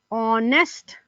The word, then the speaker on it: honest: Words that starting with H and H is silent, so you have these words like honor, our, honorable, honest, etc.